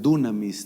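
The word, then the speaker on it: δύναμις: que es muy poderosa se puede pronunciar dunamis también si no es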